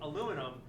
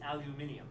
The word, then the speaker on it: aluminium: in the united states we see aluminum but if you go to great britain it's aluminium oil can i get some